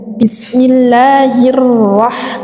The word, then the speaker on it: Bismillahirrahmanirrahim: Ada alif lam, kemudian bertemu huruf ra disebut dengan syamsiyah ya, idgham syamsiyah. Jadi dia harus dimasukkan cara membacanya. Jadi bismillahirrahmanirrahim, langsung dimasukkan ke dalam huruf ra. Bismillahirrahmanirrahim.